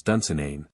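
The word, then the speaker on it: Dunsinane: ever played in Scotland he could not pronounce dunain and accentuated the final syllable or abroad from the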